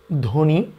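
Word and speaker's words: ধ্বনি: যদি লক্ষ্য করি এক নম্বরে শব্দের প্রথমে বফলা থাকলে সচরাচর বফলার উচ্চারণ হয় না। যেমন আমরা যদি এখানে বলি ধবনি সবদেশ। তাহলে আসলে এভাবে করে কেউ উচ্চারণ করি না। আমরা করি ধনি স্বদেশ।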